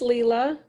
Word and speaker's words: Leela: Is it Leela or? It's Leela.